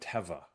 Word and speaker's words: Teva: on their website and it is called Teva, not Tea. So there you go. I can confirm Teva is the proper way to pronounce it.